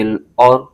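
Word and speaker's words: الأرض: دو پیش لون، جاعل، فا لام زیر فل، جاعلون فل، حمزہ را زبر اور، جاعلون فی الارض، ضاد زیر دی، جاعلون فی الارض۔ آگے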